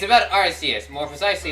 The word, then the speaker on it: Arceus: Is it Arceus or Arceus, not I tried to pronounce it as Arceus because Arceus's name is based off of Deus, which means God.